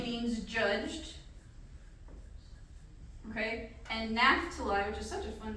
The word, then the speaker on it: Naphtali: And Naphtali, which is such a fun name to say. Or Naphtali, sometimes you hear it pronounced, which means wrestling.